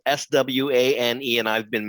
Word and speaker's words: Swane: talking about your name which is pronounced swan even though it has a ultra silent e on the end correct that is correct